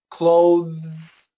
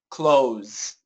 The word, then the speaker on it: clothes: American style pronunciation Edon those two words when spoken quickly sound the same when spoken slowly sound different so clothes clothes clothes close close close but as